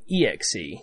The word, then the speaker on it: Xe: so first of all xe or as raja kodori initially said it should have been exe as in executable or extra scale for